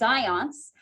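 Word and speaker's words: Zajonc: researchers so a researcher by the name of zions yes that's how you pronounce his name it's like science but it's zions uh and ledu said that there are some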